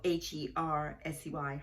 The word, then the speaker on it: Hersey: out to trisha hershey it's spelled h-e-r-s-e-y hersey tricia hersey when i